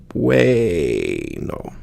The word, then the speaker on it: bueno: it's very simple, but if you pronounce the word bueno, the biggest difference, the common English pronunciation would be bueno. And you put a little bit more emphasis on the UE sound as a way.